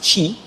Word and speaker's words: Qi: And so that is pronounced Qi, C-H-E-E, right? If you're doing it phonetically. And then in Japan, they talk about Qi, K-I, right?